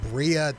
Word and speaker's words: birria: Have you ever had birria tacos or like the tacos that they like fry in the sauce?